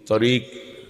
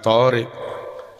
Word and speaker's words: tariq: Nah gitu, tariq bukan thariq.